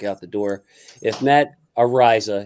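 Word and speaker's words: Araiza: the door if matt ariza his name is pronounced ariza can hold and can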